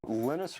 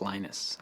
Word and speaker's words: Linus: speak Finnish it's lenus when I speak English it's lonus and I really don't care how people pronounce my name but Linux is always